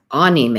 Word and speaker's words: anime: anime i myself have been pronouncing it incorrectly anime is pronounced a-h-k-n-e-e-m-a-y ah and of course that word